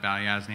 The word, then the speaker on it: Balyasny: I am the head of market data at Balyasny Asset Management. So, that is how you pronounce it.